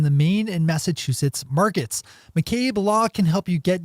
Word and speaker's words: McCabe: the focus on the Maine and Massachusetts markets McCabe law can help you get your legal cannabis